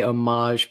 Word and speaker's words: homage: and it's so funny when you say omage people look at you and when you be in a petit four well it's like that's how it's pronounced the one that I